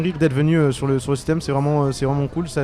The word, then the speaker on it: Cithem: Citem, ça s'écrit CITHEM, M et après festival.